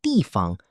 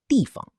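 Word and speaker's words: 地方: In dìfang, fāng is usually pronounced with a neutral tone, so we say dìfang.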